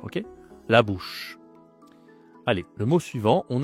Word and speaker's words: bouche: Bush c'est facile pour une personne anglophone de dire bouche. OK la bouche.